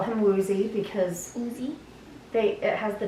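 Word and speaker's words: Woozi: So a lot of times if you actually listen to the way they pronounce it, it's Uji. aw. And so I will probably still call him Woozy because Uzi.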